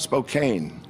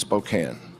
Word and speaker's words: Spokane: our neighbors it's and it's not Spokane and it's not Gonzaga it's Gonzaga and it's Spokane go ahead go ahead